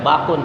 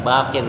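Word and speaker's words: باقٍ: Jadi bukan bacanya bakun, tidak, bakin dia walaupun di mana aja bakin.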